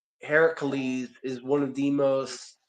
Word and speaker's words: Heracles: But in Greek in Greece it's actually pronounced Heracles.